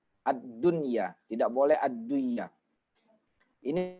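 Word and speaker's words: الدنيا: ndak boleh sedih diidghamkan Enggak boleh bacanya adliyah adliyah Anda boleh karena apa Karena ini adalah satu kata asli satu kata asli memang itulah bentuk asli daripada kata ini jadi dia tidak boleh diidghamkan bacanya tetap abdun ya ad dunia tidak boleh aduh Iya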